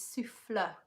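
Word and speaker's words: soufflé: nice I say souffle the correct way of saying it is souffle so it depends where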